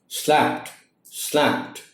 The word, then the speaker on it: slapped: So that is وائی the D sound is like a T sound at the end of the word, and it is pronounced as slapped.